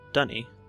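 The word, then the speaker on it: D'ni: yes all right so this place is called Donny that's spelled D apostrophe and I and I think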